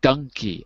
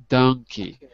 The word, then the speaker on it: donkey: donkey the problem is in American English we say Dunkey uh and Dunkey would be number 10 in the chart it would be the same as duck donkey so it depends on how you say it where